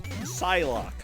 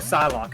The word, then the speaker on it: Psylocke: So I thought it was pronounced like Cyclops. Oh. Psylocke. Oh, Psylocke.